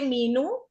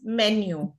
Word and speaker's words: menu: So in India, we often tend to say menu, but no. The correct pronunciation is menu.